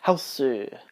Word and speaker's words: Hausu: House, or Hausu, as the guy pronounces it because it's Japanese.